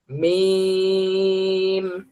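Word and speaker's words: ميم: ধরেন দুই ঠোট মিলিত মিম দুই ঠোট মিলিত অবস্থায় শুরু হবে। উচ্চারণের সময় ঠোট দুটো ফাক হয়ে যাবে। উচ্চারণটা শেষ হবে। আবার দুই ঠোট মিলে। শুরুতেও দুই ঠোট মিলানো থাকবে। উচ্চারণ হওয়ার পরে আবার দুই ঠোট মিলবে। মিম মিম হ্যা সবাই বলি মিম এরপরে নুন নুন যেবার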